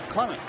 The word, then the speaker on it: Clement: It's not Clement, it's Clement. And he probably wants that distinction for a number of reasons. First of all, that's the correct way to say it, but he is